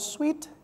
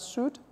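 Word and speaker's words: suite: is a word called sweet that has also been oxygen sumatic examination okay sweet okay it's not pronounced as suit it is a set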